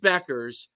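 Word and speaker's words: Bueckers: you say it Beckers Paige Beck yeah Paige Beckers her Tik Tock her is huge it's it's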